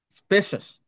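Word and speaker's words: spacious: স্পেশাস, অনেকে এইভাবে বলে, যেমন স্পেস দিয়ে অনেকে বলে যে স্পেস সিয়স বলে না, স্পেশাস, স্পেশাস। তারপর এটার উচ্চারণ তো ম্যাক্সিমাম ভুল হয়, গ্রেসাস।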